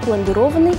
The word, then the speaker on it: пломбированный: При этом ударение падает на гласную «о». Правильно говорить «глазированный», «пломбированный», «гофрированный». На этом у меня все.